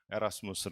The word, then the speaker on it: 에라스무스: 이유는 뒤에서 설명 드리겠지만 고전 라틴어 발음 그대로 읽어서 에라스무스 라고 저희는 고집하고 있습니다 국립국어원이 표기를 바꿨으면 좋겠는데